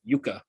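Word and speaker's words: Jukka: And you know, JUKA, I did not know that was Yuka, but and I'm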